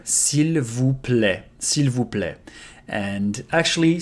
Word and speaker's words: s'il vous plaît: of the time is s'il vous plaît. S'il vous plaît. A lot of letters we don't pronounce here. S'il vous plaît.